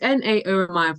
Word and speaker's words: Naomi: it's Naomi, but everyone, so people just quote different things.